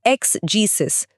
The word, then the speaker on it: exegesis: एक्स जीससिस spelling है ईएक्स ई जी ई एस आई एस।